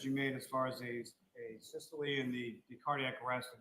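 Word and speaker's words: asystole: So Lolly learned how to say it correctly, because when he was talking to one of the EMTs, remember he said, "Hey, systole," and it was really fucking funny.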